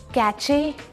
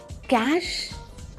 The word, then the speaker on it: cache: कैचे, कैश, कैश, that is the pronunciation. CASH जैसे हम बोलते हैं, वैसे ही CACHE।